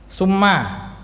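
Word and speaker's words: ثُمَّ: Summa atof, sa-nya di dhammah. Summa, kalau sa-nya di fathah, sama apa maksudnya?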